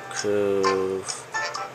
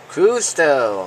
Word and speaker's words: Cousteau: Jacques Couve. I don't know if they're gonna do with the pronunciation, and I'm hoping that will be him.